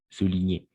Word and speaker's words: souligner: niveau de la prononciation à chaque fois qu'on va trouver les voyelles hauts et ou on va toujours prononcer comment ou c'est-à-dire sous souligner de la même façon la combinaison des cons sont g avec le N on va toujours prononcer comme un d'accord comme magnifique consigne en ligne consignes soulignés